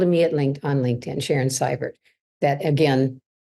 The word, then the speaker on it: Seivert: This movement, so they can get hold of me on LinkedIn, Sharon Seivert. That again, spelled EI, but pronounced I.